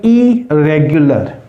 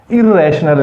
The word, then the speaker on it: irregular: तो ये होगा इरेगुलर। ये इरेगुलर नहीं हो सकता, इरेशनल नहीं होता। तो लिहाजा ये पहले तो इसको प्रोनाउंसिएशन को ठीक कर लें।